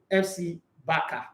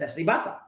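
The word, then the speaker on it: Barça: Remember, almost everybody call it FC Baka. It's FC Basa.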